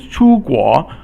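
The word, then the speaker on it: 出国: Okay, so the next one is 出国. It means to go out of your country. So 出 is the first tone or flat tone, and then 国 is the rising tone.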